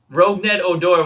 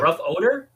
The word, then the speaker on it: Rougned Odor: was joking, I go, like, how do you pronounce his name? Because I obviously misread it. No. Oh, no, Odor. Rougned. Rougned Odor, which I was like, rough odor?